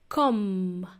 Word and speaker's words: comb: spelled C OMB and the letter B is silent so it also has a silent be in there letter B so it's pronounced come like with a long